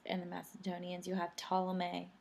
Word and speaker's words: Ptolemy: You'll have Ptolemy. I know it says a P, but the P is silent. Ptolemy will take over Egypt.